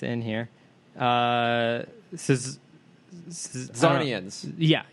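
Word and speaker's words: Czarnian: Zarnians. Yeah, he's a Zarnian. C is silent.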